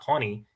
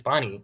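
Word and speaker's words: पानी: And then whenever I tried to correct like Pawnee, I was like, no, it's not Pawnee, it's Bonnie. Like if you're gonna have it a Hindi word, pronounce it right.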